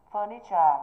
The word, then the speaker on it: furniture: Furniture là danh từ, trọng âm rơi vào âm tiết thứ mấy? Thứ nhất.